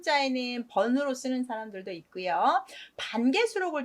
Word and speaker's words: 潘: 정 참고만 하세요음 뜨물 반 아까 말씀드렸어 여러 번 쌀 씻을 때 쓰는 뜬물 있데요 앞에다가 물을 쓰고 뒤에 차례 번을 써서 뜬물 반 번 발음이 반 돼서 조심하셔야 되고요이 강 이름 쓸 때